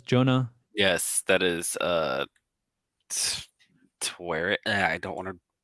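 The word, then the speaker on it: Taweret: yes that is uh twere it yeah i don't want to mispronounce her name um to wear it i believe it's how it's pronounced she is the goddess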